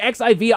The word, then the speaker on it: Xi: The president of China is President Xi. The X and the I are the spelling of his name, not Roman numerals.